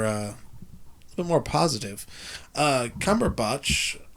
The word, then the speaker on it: Cumberbatch: bit more positive uh cumber bot that's how I'm pronouncing his name even though people in this podcast are calling him Cumberbatch I call him cumber botch cumber just have our